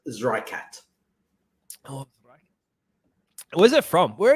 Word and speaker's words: Zreikat: There is different ways to pronounce it, but we pronounce it Zreikat.